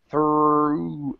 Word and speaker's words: through: to say that so keep the tongue down and pronounce the oo back here so it's through and we kind of